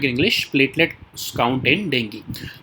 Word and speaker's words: dengue: अगर डेंगू में, तो डेंगी रादर, ठीक है। तो डेंगी कहते हैं, मैं गलत प्रोनाउंस कर रहा हूँ, डेंगू नहीं कहते इसको, आप भी याद रखना, डेंगी कहते हैं इसको, ठीक है।